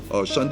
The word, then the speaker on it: Shunde: Shunde is spelled S-H-U-N-D-E.